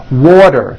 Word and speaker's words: water: Water is pronounced as water. The T turns into a D and the whole word is voiced.